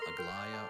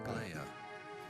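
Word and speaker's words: Aglaia: Latin, Aglaya or Aglaya.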